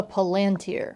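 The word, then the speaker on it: palantír: So the orb is a thing called a Palantér. I'm always inclined to pronounce it Palantir, because there's an accent on this I. But in the movie, Gandalf says Palantir, so I guess we're going with that.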